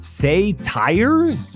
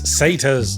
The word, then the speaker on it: satyrs: jar it's pronounced Anar say tires it's satas okay I think I